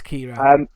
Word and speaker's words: Ciara: can't say it, Ciara, I think you say Kira. it. Oh, is it? I don't know how to say it. It's the stupidest name. It's Kira, basically. It's just a weird spelling of Kira.